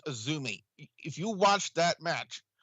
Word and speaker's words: AZM: lady whose name is spelled azm but it's pronounced Azumi if you watch that